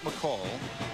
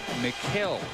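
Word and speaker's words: Mikal: It's not McCall. It's not Michael. It's not McHale. It's McKell, although it's spelled M-I-K-A-L.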